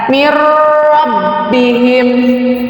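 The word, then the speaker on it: من ربهم: Di sini nun mati bertemu dengan huruf idgham bila gunah, yaitu huruf ro, maka dibacanya ditegaskan. Mir rabbihim.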